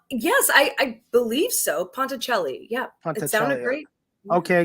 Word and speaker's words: Ponticelli: pride in well yes i i believe so ponticelli yeah it sounded great okay because that's i